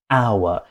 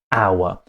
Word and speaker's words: hour: Because "hotel" we pronounce the h, it's "a hotel" and because with "hour", we don't pronounce the h and it's a "ow" sound, it's "an hour".